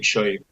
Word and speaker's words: Chui: First of all, Farrah, you pronounced my last name Chui 100% correctly, so thank you for that.